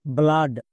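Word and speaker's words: blood: বি L double O ডি কি হবে ব্লাড এখানে ডবল ও এর জন্য আকার সাউন্ড হচ্ছে একই রকমভাবে এফ এল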